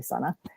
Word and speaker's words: Sana: I'm sorry, it's Sana, not Suna. Just want to correct you, just to make sure, because that if you're going to see my name a lot, it's actually Sana.